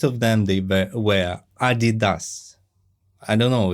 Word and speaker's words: Adidas: them they were were Adidas I don't know if if it's the correct pronunciation maybe Adidas but in Russia it's ad didas and the cap right